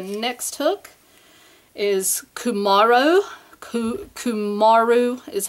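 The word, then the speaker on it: cumaru: and see the next hook is kymaro ku ku Maru is how it's said and this is a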